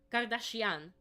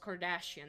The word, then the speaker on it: Kardashian: Uh for the Kardashian like daughters, uh their dad You know, Kardashian is a an Armenian surname and it's not pronounced Kardashian.